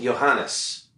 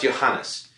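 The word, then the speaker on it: Ioannes: a guy whose name his name is spelled I Oh a n n es do you know how that's pronounced of course you don't but it's pronounced Johannes it's pronounced Johannes but nobody's going to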